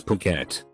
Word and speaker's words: Phuket: it I learned later that the correct pronunciation is Phuket third grade math class